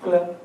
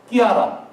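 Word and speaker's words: Chiara: 그래 클레어, 뭐 클라라 이거 다 엉터리 발음이에요. 원래 발음은 뭐예요? 이태리어로. 끼아라. 끼아라요, 끼아라. 끼아라 루비. 끼아라. 원래 끼아라가 맞습니다.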